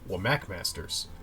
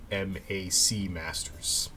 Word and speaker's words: WMAC Masters: would you say that i say well mac masters but apparently it's w wmac masters both are equally stupid